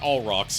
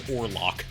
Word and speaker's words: Orlock: His name's not all rocks. It's Orlock.